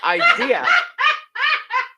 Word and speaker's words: idea: said idea with the R, What is wrong with that? because it's not how you say it. It's idea.